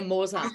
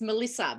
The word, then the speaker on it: Melissa: And my name sometimes comes across as Morza. Really? Yeah, Morza. So people used to go Morza, and I go, like, it's Melissa, because I used to go, it's Melissa, and they go Morza.